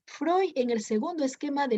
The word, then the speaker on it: Freud: el representante del psicoanálisis si escribe frío pero se pronuncia freud el representante del análisis describe friend pero se pronuncia freud el psicoanálisis no estudia